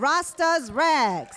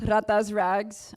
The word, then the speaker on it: Ratas Rags: I would like to welcome Bianca Lopez of Rasta's Rags. Hello, how's it going today? So it is pronounced Ratas Rags. I was born in the year of 1996, so I took on the rat.